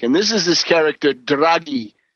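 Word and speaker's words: Draghi: And this is this character draggy. D R A G H I. It's draggy. Uh a hard G.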